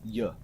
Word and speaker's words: Я: backwards R and the the letter in Russian sounds like why it sounds like y or something like that and it means I